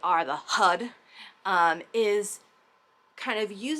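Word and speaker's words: Har: pronounce it with while the R is kind of retroflexed. So, the tongue goes back against the roof of the mouth when we're chanting it. So, it kind of sounds like H U D Hud Hud Hud Hud.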